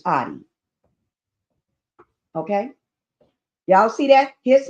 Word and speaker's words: Oddi: Jonathan Audi. Y'all see that? Some people pronounce his name Odie, but it's Audi.